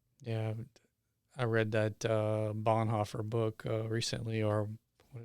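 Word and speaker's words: Bonhoeffer: Bon there's another way to pronounce it. Bonhaer is Bonhaer maybe is the more Bonhaer the official German way to say it.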